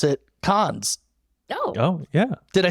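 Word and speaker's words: Cannes: uh this actually debuted at and I always mispronounce it cons oh oh yeah did I say it right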